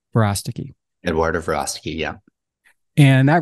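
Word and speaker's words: Verástegui: Verostigi. Verostigi.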